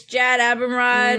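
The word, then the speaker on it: Jad Abumrad: mm-hmm barely from its from WNYC studios it's jad a perm rod is how you say his name mm-hmm Jason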